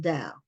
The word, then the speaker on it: Dao: I think her last name is pronounced Dow, but she has a